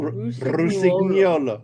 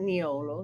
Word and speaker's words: Rusignolo: There you go. Rusignolo. Not Niolo. Nuolo.